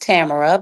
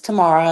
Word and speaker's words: Tamara: me Miss Tamara and my name is actually pronounced Tamara but they call me Miss Tamara and I accepted I I've grown to like tomorrow but when I left